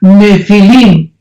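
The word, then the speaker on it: nephil: n de Nancy y pH intermedia nepil se pronuncia nefil en el original hebreo esta palabra en su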